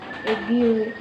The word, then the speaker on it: GUI: The acronym is pronounced GU, GUI.